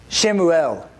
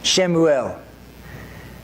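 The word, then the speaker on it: שמואל: She named him Shemuel. That's the Hebrew pronunciation of it. Shemuel.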